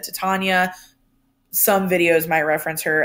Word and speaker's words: Titania: You also might hear her referred to as Titania. It kind of just depends on who you're talking to as to what the correct pronunciation is. I have always said Titania. Some videos might reference her as Titania.